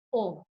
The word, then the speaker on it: Om: Inhale deeply and while you exhale chant om. ஆழமான சுவாசத்தை உள்வாங்கி வெளிவிடும்போது ஓம்னு உச்சரிக்கலாம்.